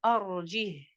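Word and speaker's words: أرجه: Le mot arjih. Arjih. Wa akhahu. Ce mot-là, arjih, est évoqué dans les deux sourates, subhanallah, avec un soukoun. Le ha, il est venu sakina. Donc, on n'aura pas de liaison.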